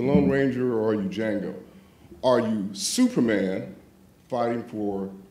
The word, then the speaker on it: Django: justice or are you Jango if you don't know who Jango is the D is silent which is a line